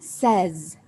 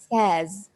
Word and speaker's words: says: So it's actually says. So with the Z at the end, says.